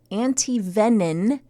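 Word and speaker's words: antivenin: Luckily, bark scorpion anti-venin. Why do they say venin and not venom? I've never heard of venin. I thought maybe you were saying it incorrectly. I am saying it correctly.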